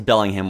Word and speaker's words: Bellingham: great okay uh Bellingham this is Bellingham Washington uh that's how you pronounce It in America you British people watching